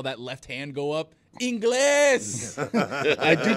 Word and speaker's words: Ingles: left hand go up, Inglés. I do pronounce his name wrong all the time because it's Spanish for English, and I don't pronounce it Ingles. I just pronounce it Joe Inglés.